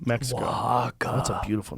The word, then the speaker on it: Oaxaca: Oaxaca, Mexico. Oaxaca.